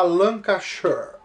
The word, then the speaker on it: Lancashire: falar pra vocês aqui é a lã caixa deve corrigir corrigiram em minha pronúncia tinha falan cachay o marcelão cachorro ta